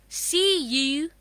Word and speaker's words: cubs: But do you know it will sound za at the last, not sa, because there is a voiced sound before S.